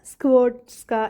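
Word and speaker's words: Skłodowska: അർത്ഥം ഇംഗ്ലീഷിൽ മേരി എന്നുതന്നെ പോളിഷ് പേരാണ് മാരിയ സ്ക്ഡോസ്ക അഥവാ സ്ക്വോട് സ്ക എന്നാണ് കുടുംബപേരിന്റെ ഉച്ചാരണം പോളീഷ് ഭാഷയിലെ പേരുകളുടെ ഉച്ചാരണങ്ങൾ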